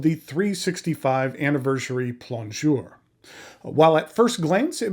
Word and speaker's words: plongeur: 365 plure from narwhal now plure is spelled p l o n geur and you know in American that kind of looks like pler um but plure is